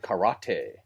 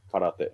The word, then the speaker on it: karate: no actually it's pronounced karate it's just it's one for yeah yeah when people want things to sound Asian for some reason they put that stress like on that middle syllable right but anyway it's